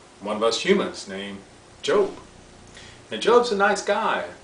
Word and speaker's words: Job: Oh, spelled job. Okay, but pronounced Job.